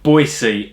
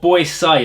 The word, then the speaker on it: Boisée: Kevon she odor puffin Boise or boys sigh I think is how they pronounce it it's got little accent on the e so I think it means you go up at the end you know it's a